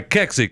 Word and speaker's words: Kexi: Today's Chewing the Fat segment brought to you by Kexi Cookies. If you look at the name and you can't pronounce it, just remember that it's sexy, but with a K.